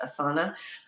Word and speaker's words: Asana: I think one of them is called Asana, although I usually hear it pronounced Asana.